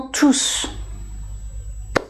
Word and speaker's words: tous: exemple entre par exemple tous mes amis je ne prononce pas le s et ils sont tous